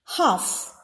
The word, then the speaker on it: half: letter i is silent half half the letter l is silent the sound of which